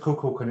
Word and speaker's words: Kukulkan: I found out this was Kukulkan. Now, is it possible I had seen Kukulkan or Kukulkan? I pronounce it Kukulkan, it's simpler.